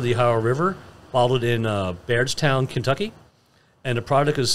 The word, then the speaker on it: Bardstown: In 1783, he founded Kentucky's first commercial distillery on the banks of the Ohio River, bottled in Bardstown, Kentucky, and the product is distilled at Heavens Hill Distillery to this day in Louisiana, Kentucky.